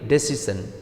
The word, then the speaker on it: decision: Similarly, decision. This word ends with SION, which is a suffix. So, as per rule, the stress will fall on the second to the last syllable for ending like SION. So, CI is the second to the last syllable. So, the stress will fall on the second syllable.